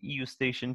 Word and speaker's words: eustachian: Okay, the E is silent. You can pronounce it eustachian tube if you want to make sure that you spell it correctly in exams.